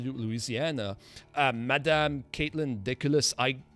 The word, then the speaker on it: Deculus: that has to do with louisiana madame caitlin diculus i pronounced your name correct i hope yes you